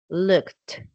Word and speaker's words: looked: Instead, looked, the ed sounds like a t, like really strong, looked.